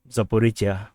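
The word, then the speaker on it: Zaporizhzhia: It's actually Zaporizhia or Zaporizhia. So like Asia, this is Zaporizhia. So this is Zaporizhia. So from now on I'll pronounce this correctly, Zaporizhia.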